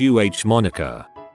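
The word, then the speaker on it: Amonica: front of the name, making it a Monica, pronounced UH Monica.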